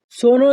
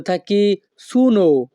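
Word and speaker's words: sono: বাক্যের ইতালিয়ান ভাষা হবে সোনো এ কাজা আদেশ আমরা অনেকেই বেশিরভাগ সময়ে আমি এর উচ্চারণ করে থাকি সোনো কিন্তু আমি এর সঠিক উচ্চারণ হবে সোনু সো নো ইতালিয়ান ভাষা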